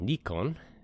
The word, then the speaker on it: Nikon: All right, for our opening topic, the camera company Nikon, or I think in Japanese it's pronounced Nikon, is going to end development on their high-end DSLR cameras.